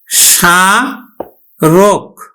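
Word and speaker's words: স্মারক: এজন্য কিন্তু না বলে স্বর্তব্য সরতব্য তারপর দেখো স রক দেখো শুরুতেই ম ফলা আছে তাহলে আমরা ম ফলার উচ্চারণ করি না দন্তস উচ্চারণ করি না তাহলে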